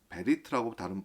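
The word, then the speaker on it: בְּרִית: 그래서 히브리어에 이 약속이라고 하는 단어를 베리트라고 발음하는데요. 그 어원이요, 오늘 말씀의 내용과 연결이 되어 있습니다.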